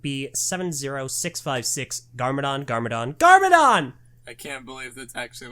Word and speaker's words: GarmaDon: 706 56 Garmadon Garmadon Garmadon I can't believe that's actually what it's called now you got to like pronounce the capitalization it's Garmadon Garmadon Garmadon fair point I